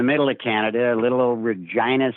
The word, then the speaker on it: Regina: of Canada a little Regina Saskatchewan the city that rhymes with fun we started there we